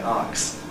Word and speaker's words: ask: Jamaians normally say arcs and their sons and daughters who have grown up in London very often retain this in the midst of an otherwise corny kind of pronunciation. You nevertheless hear them saying to ask somebody a question rather than to ask him a question.